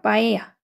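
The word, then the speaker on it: paella: 빠에야. 이거 스페인어거든요. 그래서 스페인어를 제가 할 수 있기 때문에 얘는 그대로 바에야라고 읽어 주는 거예요. 빠에인데 영어 발음은 파엘라고 발음을 하더라고요.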